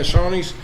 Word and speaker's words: Shoney's: He was an franchise owner of Shoney's. Is that how you pronounce it? Yeah, Shoney's.